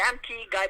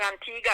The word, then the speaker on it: Antigua: People say Antigua, but it's not Antigua. It's a G-U-A. But people don't pronounce it properly.